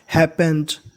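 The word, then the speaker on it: happened: पी दो बार है, उच्चारण एक बार करना है, हैपेंड विथ हिम।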